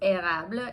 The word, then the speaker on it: Érable: The color is called, I think it's pronounced Érable. It's E-R-A-B-L-E.